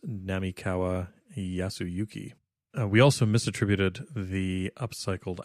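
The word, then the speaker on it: 並河靖之: The pronunciation that we used in the last episode is incorrect. It is Namikawa Yasuyuki.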